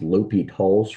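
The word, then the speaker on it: L'Hôpital: That's called Liy. It's pronounced Li Tall's rule.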